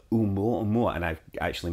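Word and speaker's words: ʻOumuamua: So the discovery team at Pan-STARRS in Hawaii came up with a name, and it's Oumuamua, and I've actually mispronounced that.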